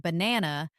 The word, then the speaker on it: banana: For example, in the word banana, the stress is on the second syllable. Ba nana.